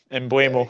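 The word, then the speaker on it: Mbeumo: But Doug, can you pronounce that name, please? Because I will absolutely butcher it. Emblemo.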